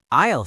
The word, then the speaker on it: aisle: Isle seat. How do you spell that? A I S L E. But the S is silent.